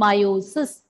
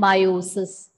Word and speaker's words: meiosis: Don't get confused between the terms mitosis and meiosis. There is no T in meiosis. Both are pronounced more or less the same way. And in meiosis, E is silent. Mitosis and meiosis.